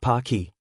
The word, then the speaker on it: Pocky: A third person thought as he munched away on some pokey Japanese taffy pronounced pocky.